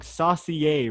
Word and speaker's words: Saucier: Man, I always say your So, last name wrong, bro. I always say it wrong. Saucier, right?